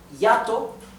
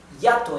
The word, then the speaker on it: hiato: La forma como se escribe hiato en español es así. Hiato. Hiato. Hiato is hiatus in Spanish, right? Hiatus. Hiato. Now look how ironic. The word hiatus in Spanish actually has a diphthong.